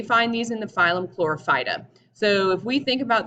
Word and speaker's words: Chlorophyta: these in the phylum chlorophyta so if we think about this word and we break it down it kind of sounds like the word chlorophyll and that's because it